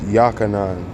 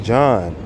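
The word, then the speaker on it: Yochanan: That's John, but it's Yachanan, because Yah, see, Yah is in his name. It's not John, it's Yachanan.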